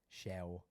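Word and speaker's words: Llew: L-L-E-W is how you spell it. How do you say it? Shell.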